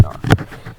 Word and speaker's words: Knar: It's pronounced Knar.